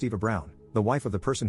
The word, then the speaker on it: Eva Braun: She asked why not, and I reminded her of the historical figure Eva Braun, which is pronounced Eva Brown, the wife of the person who started World War II and probably one of history's most evil figures.